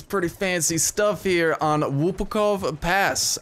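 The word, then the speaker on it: Łupków: This is pretty fancy stuff here on Lupkow Pass. I actually pronounced it right because I'm Polish, and before I actually pronounced it wrong I look like an even bigger idiot, but yeah.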